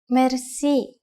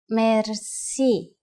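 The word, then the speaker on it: мерси: which word that is merci merci merci is a long word from French but it is pronounced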